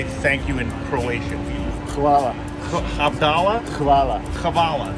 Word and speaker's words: hvala: Hvala. Abdallah? Hvala. Kavala. Hvala. Not koala. No, hvala. How do you spell it?